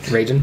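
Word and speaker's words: Reigen: is kind of a two-parter you have master ragin ragin they have a ragin Cajun okay I got it I can pronounce it now ragin Cajun is he's on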